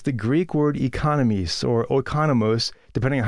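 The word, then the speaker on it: οἰκονόμος: Now, that word steward here in verse 1 is the Greek word economies or oikonomos, depending on how you want to pronounce it.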